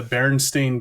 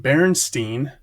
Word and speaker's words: Berenstain: later an animated series, which we all grew up pronouncing Berenstein, and we all thought it was spelled Berenstein, like Stein. Turns out in reality it is spelled Stain, Stain, Berenstain.